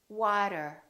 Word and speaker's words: water: that is very American I'm going to say one word in two different ways and I want you to ask yourself which one sounds American listen carefully City City ability ability better better water water it is it is the second one is an American accent all of those words